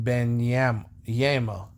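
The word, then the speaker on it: Wembanyama: go They're Gonna Be drafting Victor when when Ben yam yamo is that how you pronounce that name is pronounced whim banyama web the that dude that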